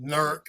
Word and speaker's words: Newark: from Oberlin she's from Newark or nerk as they pronounce it nerk okay n nahaya as